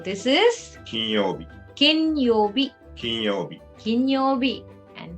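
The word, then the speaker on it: 金曜日: for days of the week and and you pronounce it yobi so this is ken yobe king kinyobi and kinyobi means friday next is for a rich person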